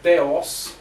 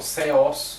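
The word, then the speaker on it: θεός: Então, começando pelo theos, ok? Ou theos do grego, isso aqui é um tanto difícil de pronunciar, esse teta aqui, o theta do grego.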